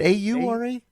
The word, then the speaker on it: Oura: I don't even know how to spell it. I think it's the AU. Is it AURA?